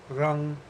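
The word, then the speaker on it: रं: Lam, Vam, Ram is actually pronounced Lang, Vang, Rang.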